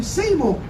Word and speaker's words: Seymour: to David and I'll say his name properly Seymour and they've got to David Seymour the so-called